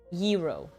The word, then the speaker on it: gyro: It's yuro. Did I pronounce it right?